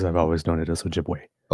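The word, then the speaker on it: Ojibwe: That that must have been a slip of the tongue on my part because I've always known it as Ojiway.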